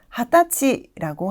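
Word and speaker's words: 二十歳: 발음이 있습니다 바로 아태지겠죠 스무살이라는 단어는 하타치라고 하고요 스무살이기 때문에 20이라는 숫자가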